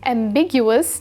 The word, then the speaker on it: ambiguous: different directions at once the stress is on the second syllable big which you can remember